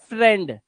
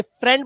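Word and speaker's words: friend: अब exception case यह है कि यह जो वर्ड है दोस्त को इंग्लिश में बोलते हैं फ्रेंड। लेकिन इसे इ आई इ आया हुआ है तो इसका उच्चारण फ्री क्यों नहीं होता?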